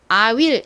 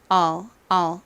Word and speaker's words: I'll: 자,이 I will의 축각형인 I를 발음하실 때에는 I will 이렇게 발음하기보다는 all 이렇게 발음해 주시면 더 자연스러워요.이를 발음할 때는요.